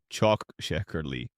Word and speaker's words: çok şekerli: medium sweet, a popular choice, or çok şekerli, çok şekerli, or simply şekerli, meaning very sweet, for those with a pronounced sweet tooth.